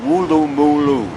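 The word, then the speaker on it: Woolloomooloo: come up with these crazy names called like wulu mulu you know and she said well she said we like to hear the Americans try to pronounce them so just for you Amber one more time wulu mulu anyway I didn't come here to talk about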